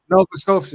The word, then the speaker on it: Nova Scotia: Nova Scotia.